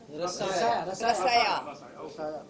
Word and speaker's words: Rasaya: Something about रसाया, how do you pronounce it? Rasaya.